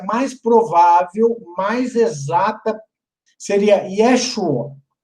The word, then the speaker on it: Yeshua: Então, o nome do Salvador, no aramaico, a pronúncia mais provável, mais exata, seria Yeshua. Não, o A nem sai direito. É um A, é um patá comprimido. Yeshua.